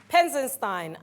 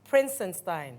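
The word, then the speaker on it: Prinzenstein: Which Europeans built the fort Penzenstein at Keta? Or Prinsenstein? Let me pronounce it correctly.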